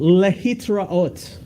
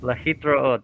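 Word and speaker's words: להתראות: lehitraot. Lahitraot, that's what I'm supposed to remember. Okay. Yeah, so that means until we see each other again. Lahitraot.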